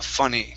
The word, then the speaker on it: funny: to be funny okay use more of an uh uh sound open up your mouth a little bit more and funny ears and funny ears there you go uh funny good um next up